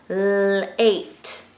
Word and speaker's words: late: in the middle, but the silent E is at the end. And he wants the vowel to say his name, A, instead of A. So it has to say his name, late, late.